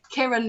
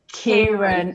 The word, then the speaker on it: Kiran: I looked on your Twitter actually, and it said Kiran, not Kieran.